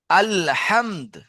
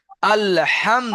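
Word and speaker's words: الحمد: আল, আল হামদ। আল হাম। হাম বলে শেষে দ উচ্চারণ করবেন। আল হামদ।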